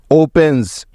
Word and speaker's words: opens: লক্ষ্য করে দেখো যে এখানে প্রত্যেকটি উদাহরণে এস এর আগে এই 7টি বর্ণের যে কোনো একটি আছেই, তাই এখানে এস এর উচ্চারণটা জয়ের মতো হয়েছে।